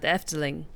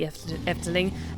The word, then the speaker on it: Efteling: terms of the proportions very much reminded me of a particular section at a theme park that's in the Netherlands called the Efteling.